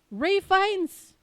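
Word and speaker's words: Ralph Fiennes: Ralphan Ray Fines.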